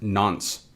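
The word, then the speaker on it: nonce: on from that we have this n nce pronounced nons so what is the nons a nons is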